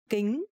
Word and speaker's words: kính: Kính. Eyeglasses. Kính. Kính is sunglasses, and in Vietnamese, the consonant K and C pronounced exactly the same.